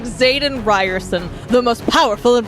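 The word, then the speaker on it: Xaden: oh excuse me like Z is Zaden fine am I pronouncing the X like a z that's correct you got that one somehow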